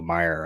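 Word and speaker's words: Mayer: wrong in last episode I think I said mayor but it is Marcelo Meer right I I that a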